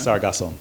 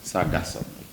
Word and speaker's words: Sargasso: um you had mentioned the sargasso we that's the correct pronunciation sargasso sargasso all right have that